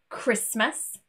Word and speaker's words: Christmas: But there are some random words too that also have a silent T. Most commonly, asthma, Christmas, mortgage, and often.